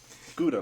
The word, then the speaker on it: Gouda: Gouda, like the cheese, but it's pronounced Gouda.